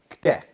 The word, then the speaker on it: kte: This is how you spell it. I'll just put it for you guys. Kte. KT. Kte. Kte. But it's almost like a TD. We're not saying kte.